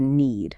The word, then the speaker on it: knead: That initial K is always silent when it's followed by an N, and you have to know it for some very high-frequency words. We're talking about verbs like knead dough, knit a sweater, and common words like knife and know. So the pronunciation of need is identical to need.